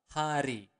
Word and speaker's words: hari: Every day is setiap hari. Okay, let's repeat it again slower. Se, setiap, setiap hari. Again, you want to pronounce the word R clearly. Setiap hari.